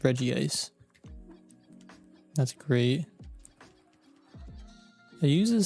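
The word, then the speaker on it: Regice: Sorry, I'm going to pronounce that. It's Reggie ice.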